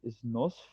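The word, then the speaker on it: نصف: word in Arabic is nosf, and then the transcription is just nos. Yeah, because it is spelling wise, you write it with f, but you don't pronounce the f.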